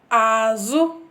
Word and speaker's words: Azụ: Azụ. Azụ. You have to be very careful when pronouncing this azu, because if you pronounce it somehow else, then it will be azu, which means fish.